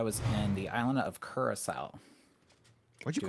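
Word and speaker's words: Curaçao: It's blue curacao, but you went to Caraco. Curacao is the island name. Caraco. That's how they pronounced it.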